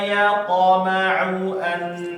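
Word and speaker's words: يطمع: Di sini hati-hati ya Bapak, di huruf ain ya. Jangan dua-duanya dibaca a ya. Thumma yaqma'u langsung ke a ya. Jangan dua-duanya yaqma'u a. Nah, dua-duanya kalau dibaca ain keliru berarti. Harus satunya aja ya, yaqma'u a.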